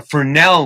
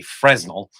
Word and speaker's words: Fresnel: out uh what a fresnel lens is and that's spelled with an s so you might say fresnel but uh a fresnel lens you shine a light